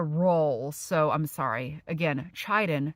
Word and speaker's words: chitin: It's pronounced chitin. So I'm so sorry. Every time I said chitin, it should have been chitin. We're going to hear it pronounced now. Chitin.